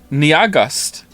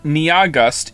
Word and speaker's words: Nyahgust: has informed me that their name is only 2 syllables long. And I don't understand how that's possible. Nia is clearly 2 syllables on its own, and then after that you have gust. Niagust. It's pronounced like August.